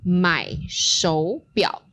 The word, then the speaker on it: 买手表: And 手表 follows the tone variation that Joe previously mentioned, which 手 is normally a third tone. 手表. We have second tone, third tone. And when we add that first tone, the first word, 买, which is to buy, that third tone remains 买手表.